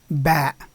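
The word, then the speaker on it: ب: The second one is the letter Ba. Ba, and it represents the sound B, as in the English word boy.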